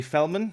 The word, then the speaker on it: Felman: episode for you today we're joined by fellman who is the head of trading at block tower i hope i pronounced your name and your company name in